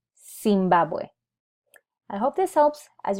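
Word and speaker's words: Zimbabwe: as a sound so if I wanted to pronounce the name of the country I would say sing bow boy I will not use em it would be seen bad boy I hope this helps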